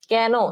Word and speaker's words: কেন: আচ্ছা, কেন, দেখো এখানে এ কার লেখা আছে, কিন্তু আমরা বলি কি, কেন, তুমি সেখানে কেন যাবে, কেন, কয় জাফলা আকার, ঠিক আছে, তুমি সেখানে কেন